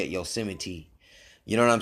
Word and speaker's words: Yosemite: saying it's but they make you say it Yosemite you know what I'm saying but if you